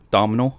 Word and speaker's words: Domhnall: He's played by Domhnall Gleeson. Did I pronounce that right, Kyle? Domhnall.